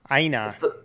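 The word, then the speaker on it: IINA: really good media player for mac called um aina that's open source and it's a lot better than vlc oh really okay aina i i n a is how you spell it sounded like it sounded like it came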